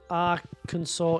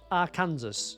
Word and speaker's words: Arkansas: You're learning that Arkansas isn't pronounced how it's You thought it was pronounced A Kansas. You been walking around thinking it's a Kansas. Arkansas or a what? Yeah, it's not a Kansas.